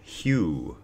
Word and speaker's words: Hu: it's hu and it's pronounced just like hue as in Hugh Hefner for example or huge axe or Howard Hughes you know it's it's